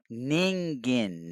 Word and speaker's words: Ningen: Ningen. Nigan. Neg. What are we doing? Daggum. Walking Dead. It isn't Negan. It's Ningen. Just like it's spelled.Ningen.